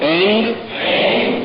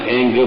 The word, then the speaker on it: ऐं: ओम ऐंग ring Tshering, M नहीं बोलना, एंग बोलना, ध्यान रखना। एंग रींग श्रींग, ग की ध्वनि है, म की ध्वनि नहीं है।